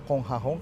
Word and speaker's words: Kong Ha Hong: Nah, itu kami bacanya Kong Hahong karena kami dari Kanton, dari Hokkien bacanya lain lagi.